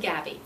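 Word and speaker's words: Gabi: It's called The Gabby Life. Okay. Gabby is spelled G-A-B-I, Mm-hmm.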